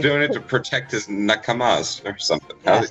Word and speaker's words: nakama: He's like, doing it to protect his nakamas or something.